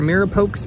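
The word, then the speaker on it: mirepoix: Okay, so I'm gonna get this diced Mirapox or Mirapox blend, is how you pronounce it.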